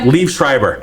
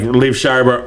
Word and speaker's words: Liev Schreiber: How do you pronounce his name? yeah. Oh, is that why? Liev Schreiber.